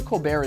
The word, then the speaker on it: Colbert: Even though Cobar is Irish, German, and English, he uses the French pronunciation of his last name.